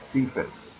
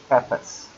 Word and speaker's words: Cephas: And by the way, don't let anybody ever tell you that's pronounced Cephas. It is not. It's Cephas. Peter was Cephas.